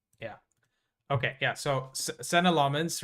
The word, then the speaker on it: Lammens: I think um I've just put out his uh pronunciation by the way. It's Lmens like L a hs.